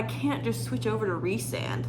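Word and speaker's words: Rhysand: straight facts out there and she said resand so which is so funny because like I do call him Rhys like that's how I pronounce it when it's when they use his nickname in the books so I say Rye sand and Rhys which like I had a feeling Rye sand was wrong but I feel like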